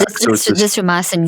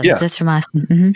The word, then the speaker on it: azithromycin: I always get that name wrong. Yeah, it's essentially the Z-Pack. Azithromycin, Z-Pack, yeah. Azithromycin.